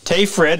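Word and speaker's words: Tage Frid: And if you pick up Tay Fred's book, Tay Fred, as name, that is spelled T-A-G as in golf, E, last name is spelled F-R-I-D.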